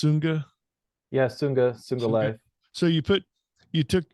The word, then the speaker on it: Sunga: recovery there but so you took um it's pronounced sunga so you put you took you took the